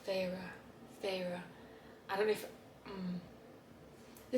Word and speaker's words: Feyre: So, oh, by the way, I say her name as, I think I pronounce it Feyre. When I was reading it, I was like, Feyre.